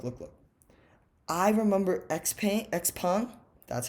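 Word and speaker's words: XPeng: at look look look look i remember xp x-pawn that's how you pronounce it correctly i heard so x-pawn got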